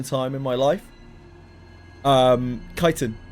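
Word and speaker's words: chitin: Um, kiten is one of them. I pronounced it as chittin for an unbelievably unbelievably long amount of time in my life. Probably like 25 30 years cuz I just never heard it out loud once.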